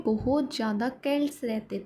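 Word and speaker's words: Celts: इनको हम pronounce pronounce सेल्ट्स भी बोल सकते हैं और के्ट्स भी। बट हम इनको के्ट्स ही बोलेंगे।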